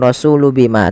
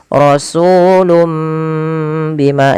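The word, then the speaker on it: رسول بما: iqlak jadi sehingga ini bacanya bukan rasulu Bima tapi rasulum mimnya dibaca asalnya rasulun Bima karena bertemu dengan ba diganti seperti ini penulisannya rasulum Bima ditahan kemudian bimaala panjangkan sama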